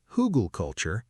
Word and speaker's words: Hugelkultur: Hugelkultur, pronounced Hugelkultur, is a raised garden bed built on a base of buried wood.